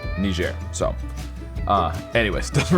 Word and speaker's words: Niger: I pronounce it but I have heard from people who have actually traveled there that the people in Niger pronounce it Niger so uh anyways it